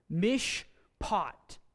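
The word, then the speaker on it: מִשְׁפָּט: We have two syllables here. We have a silent Shavah, it's preceded by a short vowel, Mish, and that receives P pronunciation because of the dogish lean A, Mishpat, and means judgment.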